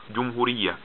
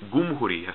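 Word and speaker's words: جمهورية: A common example is the word for a republic in Arabic is jumhuriya, but in Egypt they say gumhuriya.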